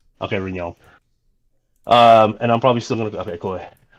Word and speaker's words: Rinyald: Is that pronounced Rinyald? Yeah, Rinyald. Yep, you got it. Okay, Rinyald.